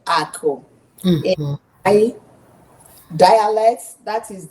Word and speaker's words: aku: So when you hear me you hear she says Ako. Say that Ako is a. How do you say it? Ako? Ako, yes. Yes.